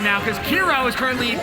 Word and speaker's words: Kiro: top two that's right the one and only kiro because that's how you pronounce k-i-r-o but hey we've uh